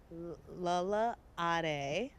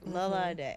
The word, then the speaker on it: Lala Day: Lala Ade. Did I say it right? Or Lala Day. Lala Day.